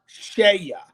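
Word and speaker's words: CEIA: the spelling of that it's c-e-i-a but it's pronounced shaya but c-e-i-a usa and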